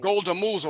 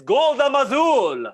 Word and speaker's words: Golda Mazul: Golda Moozle, or however the hell you say your name. Sir, how do you say your name? It's Golda Mazul.